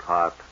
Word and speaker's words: Haute: None of my business, but I think you're mispronouncing it. Haute, Hot.